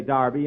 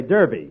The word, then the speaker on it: Derby: Darby last Saturday bill that's Derby the English say Darby and the Americans say Derby yeah and the losers